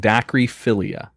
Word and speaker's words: dacryphilia: This next one is called dacryphilia. D-A-C-R-Y. Dacry? That's dacryphilia. D-A-C-R-Y. Yep. So it's not a daiquiri.